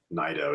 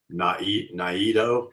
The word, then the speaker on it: Naido: And some people are saying that's not the correct pronunciation of Nido. It should be Naido.